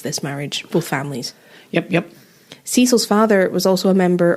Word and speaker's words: Cicel: It was after Francis had built this flourishing business that he got married to Brodie's mother, who was called Cecil Grant. But it's spelled Cicel.